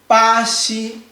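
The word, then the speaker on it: 巴西: We say bā xī bā xī Let me break down for you. We say bā bā xī bā xī Read after me. bā xī Do you see the one I say maybe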